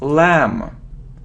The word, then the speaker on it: lamb: look at this word it isn't lumber or it isn't lamp no we don't pronounce B so it's lamb lamb next you see him